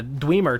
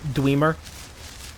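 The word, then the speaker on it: Dwemer: territory got to say I know that it's called damer that's the official way of of pronouncing it everybody says damer but godamn does that sound stupid that sounds like you're saying dreamer with an oooo voice thr score thr score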